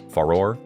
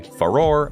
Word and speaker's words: Farore: Ferrari or Fey Roar I'm going to pronounce it farore and hylia as well I say